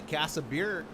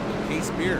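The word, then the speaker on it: Casebeer: said, by the way, his last name is said like a case of beer. Case beer.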